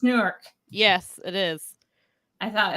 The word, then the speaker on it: Newark: New Jersey you gotta say it right it's Newark yes it is I thought it was pretty